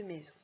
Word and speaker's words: maison: trouver le E de maison? Oui, génial. Allez, vous faites la deuxième syllabe. Zon, z, du coup. Oh ben ça y est, on a compris maintenant. Le z, je mets la lettre S.